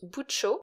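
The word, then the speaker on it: 부처: jouant sur les sonorités Bouddha en coréen se prononce boutcho qui rime avec le mot anglais Butcher c'est pourquoi il dit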